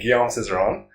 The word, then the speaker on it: Guillaume Cizeron: scores for the free dance Gabriela Papadakis and Gom Cerone was to get to that pronunciation thanks so much for for talking to